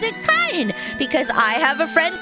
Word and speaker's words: Kain: Cain from the Bible doesn't necessarily mean it's pronounced Cain. It could be pronounced Kain. This is what I'm trying to get across. Especially in this era of game making. They didn't... Yeah, so it's Kain, right?